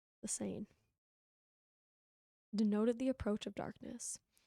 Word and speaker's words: Seine: The Seine.